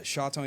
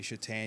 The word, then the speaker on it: Chatagnier: name it is a tricky last name yeah shaton is the correct pronunciation but uh I say chat to those who are not super Cajun French